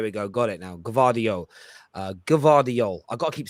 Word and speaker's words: Gvardiol: This is the best way of pronouncing it. I want to get this right. Joško Gvardiol. Gvardiol. There we go. Gvardiol. There we go. Got it now. Gvardiol.